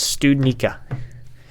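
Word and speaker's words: Studnicka: cahier or stud Nick how do you say that Jack student I think it's stewed nikka it's stewed Nica okay I finally got the pronunciation if we could get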